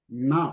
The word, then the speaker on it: न: वैद्यः वैद्यः न पश्यति Na. First you have to say na. Na. Vaidyaha Na. na pashyati. न Yes. Na. You have to pronounce na short, not long.